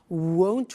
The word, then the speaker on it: won't: sunny is the negative won't remember the difference between will not won't and want won't want so be careful with that pronunciation so it'll be sunny